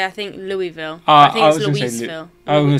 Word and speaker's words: Louisville: ohio river was a curious city of whose pronunciation i had been heartbreakingly assured louisville now while locals might well give me props for stopping short of lewisville they might as youtube commenters have in the